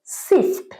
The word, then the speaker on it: sift: আমি যদি বলি আটাটা ছাঁকতে হবে, the flour needs to be sifted, এটার উচ্চারণ সিফট।